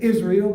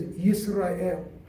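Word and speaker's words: ישראל: Today we say Israel, but in Hebrew we pronounce it as Yisrael.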